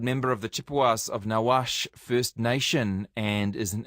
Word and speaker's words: Nawash: I meant to check the pronunciation of your First Nation organisation, Chippewas of Nawash.